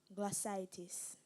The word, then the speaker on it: glossitis: have the language of origin Greek am I pronouncing the word correctly glossitis you are G l o s s i